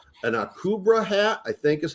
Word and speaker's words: Akubra: and i could but i couldn't get the pronunciation an akubra hat i think is how it's pronounced so